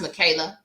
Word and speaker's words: Michela: that's her but yeah it's Michela though it's pronounced Michaela U it's m IA